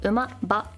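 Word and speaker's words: 馬: is Road Michi or away or pass and pronounce and then this one's a little complicated this is horse Uma or Ma and this is actually used pretty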